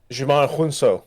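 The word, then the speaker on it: Djimon Hounsou: yeah um so um jimon jimon is how you say his name Jon I looked it up I watched about three videos on how to say his name it's Jamon Jamon huno yeah um massive carry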